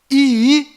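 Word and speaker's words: ישראל: corretas de cada letra Então a pronúncia correta desta palavra é Israel aqui está localizado Israel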